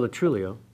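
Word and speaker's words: Lo Truglio: Lennon, I believe, and then quite recently, Joe Latrullio, if I learned how to say his name correctly.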